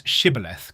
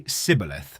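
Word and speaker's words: Shibboleth: The Ephromites are identified by their inability to pronounce Shibth correctly. They say Cibilith.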